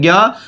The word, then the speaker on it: ज्ञ: पर इसका सही उच्चारण अगर आप देखें तो जय होता है।